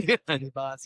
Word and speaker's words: Kiribati: Vanuatu, Tonga, Kiribati. Yeah. Really ball knowledge to pronounce it correctly. Kiribati, yeah.